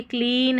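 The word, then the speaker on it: clean: यहाँ क्लास है, क्या है, क्लास, और ये क्लीन है। यहाँ पर EA जो है ना क्लीन में, इसको बड़ी ई की जैसे पढ़ा जाएगा यहाँ पर क्लीन में, और ये क्लीन, क्लीन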